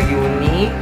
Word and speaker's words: Juni: J, kasi letter Y yung J nila, di ba yung pag-pronounce na. So, June is their uni.